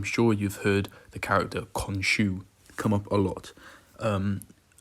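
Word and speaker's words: Khonshu: moonlight recently i'm sure you've heard the character konshu come up a lot um that is the correct pronunciation by the way is konshu if you've ever wondered um konshu is basically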